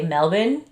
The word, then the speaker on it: Melbourne: Australians don't really pronounce the R, so you'll be hearing me say Melbourne the whole time. Melbourne, yeah. I'll be saying Melbourne.